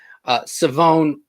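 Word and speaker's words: Shavon: Savone Revel. That is Savone the correct Revel. way to Savone pronounce it.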